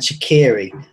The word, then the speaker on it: Shaqiri: I'm just pleased you're not saying Shakira instead of Shaqiri.